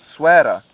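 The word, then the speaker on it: Essaouira: all the way to a place called Sara now that's how you pronounce it but you will never find it if that's how you pronounce it because it's spelled e SS o u i r a or something like that probably one of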